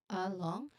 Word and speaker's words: along: Uh, along. Here it sounds like UH. And then long. There's a short O sound there. Long. And then the NG sound or ng sound. It's a nasal sound.